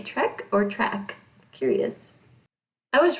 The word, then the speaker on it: Trek: i love star trek i always call it track because i grew up that way my dad didn't say it correctly i guess so to speak i don't know stephen my husband he's always like it's trick it's trek i'm like i don't care